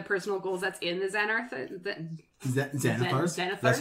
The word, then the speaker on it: Xanathar: But I did want to point out, like, my favorite one in the personal goals that's in the Xanathars?